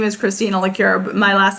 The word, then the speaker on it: Lecuyer: it doesn't liqueur my name is christina liqueur my last name is spelt l-e-c-u-y-e-r but if you come find me